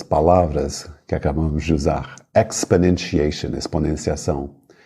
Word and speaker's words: exponentiation: que acabamos de usar exponentiation exponenciação o po Você quase nem pronuncia a vogal exponentiation o quase desaparece exponentiation notation cuidado com